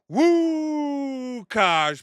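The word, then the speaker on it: Łukasz: Woo, Kaj. That's right. You pronounce it Woo, Kaj Pulowski just updated us that we've got this new surge protection that's out.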